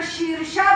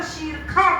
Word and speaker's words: शीर्षा: सहस्त्र शीर्षा भी नहीं बोलते। सहस्त्र शीरखा बोलेंगे। श को खा बोलेंगे।